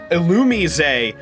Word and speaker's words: Illumise: Uh, apparently it's not actually pronounced Illumise, the the the counterpart Pokemon to Vulb.